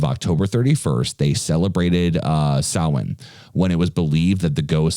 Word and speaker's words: Samhain: to the ancient uh celtics uh festival of samhain pronoun or which it looks like it says semhein but it's actually pronounced so in okay uh the spelling for it is s-a-m-h-a-i-n but it's pronounced so in uh the uh the celts uh who lived